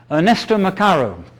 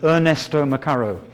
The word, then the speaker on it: Ernesto Macaro: and and other Alternatives Ernesto mararo I I I'll pronounce it like that Ernesto mararo because I believe he's British British born and British you know he sounds like Ernesto mararo you know but he's actually Ernesto Macaro o Oxford University he